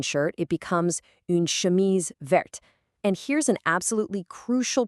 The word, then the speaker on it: verte: Vert has a silent t at the end, but in the feminine verte, that added e forces you to pronounce the t.